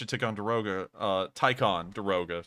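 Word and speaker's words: Ticonderoga: see how much a tick on deroga costs a billion um so that's how much you take on deroga uh tycon deroga sorry i've just realized i've been mispronouncing that so that's how much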